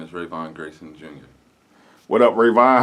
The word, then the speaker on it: Rayvon: call me raven raymond whatever yeah but it's pronounced rayvon know my name okay what were some of